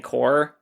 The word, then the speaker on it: corps: I said corpse. And I always say that when I'm saying core, but it's spelled c o r ps. Yeah, but it's core.